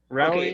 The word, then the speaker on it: rarely: Rarely. Okay. I rarely. Only 2 syllables.